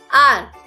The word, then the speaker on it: hour: आर। Friends, यहाँ पर जो आर की स्पेलिंग है HOUR, इसमें जो हमारा H है वो है साइलेंट, इसलिए हम इसे पढ़ते हैं आर।